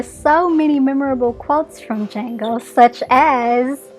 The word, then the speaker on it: Django: Django, same thing. I think there are so many memorable quotes from Django, such as, "The D is silent."